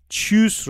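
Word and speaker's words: Tschüss: بریم بخوابیم شب بخیره چوس داریم ببین تی اس سی اچ رو داریم صدای چ میده دوباره اینجا چیوس رو داریم یعنی خداحافظ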